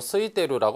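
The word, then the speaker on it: 空いている: 자, 소노토키와 호카니 아이테이루 스이테이루라고 발음하셔도 됩니다.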